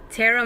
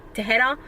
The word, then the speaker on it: Tahereh: And Tahereh Mafi, apparently that's not how you say her name. It's like Tahereh or something really gorgeous and pretty just like her.